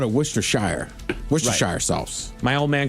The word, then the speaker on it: Worcestershire: It's It's It's It's actually pronounced Worcestershire. Worcestershire Woos- Wooster like like as in Boston.